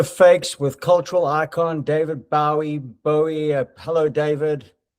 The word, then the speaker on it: Bowie: Like Jim Bowie, or as in the Bowie knife. That's the pronunciation.